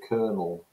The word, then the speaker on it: kernel: And it also, the video talks about the word kernel as well, where the pronunciation now mirrors the French kernel, but actually takes after the Italian way of spelling it. Okay, so if you have